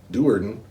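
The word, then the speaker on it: Do'Urden: they don't overwhelm it's it's drist dewarden because it's d apostrophe r-z-z-t some people are drizzed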